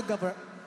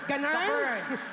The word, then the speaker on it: govern: If you were the president, given the power to govern... Govern. It is a verb. The accent falls on the second syllable. Govern. Ganern.